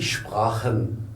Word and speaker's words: Sprache: Vous vous rappelez quand on a fait l'alphabet, on a dit quand le A vient avant le CH se prononce comme le Kha de l'arabe.